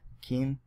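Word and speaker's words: Keane: So I think who wrote that book was Sam Keen, and he spelled his last name K-E-A-N-E, I believe. Keen, yeah. So the E is silent.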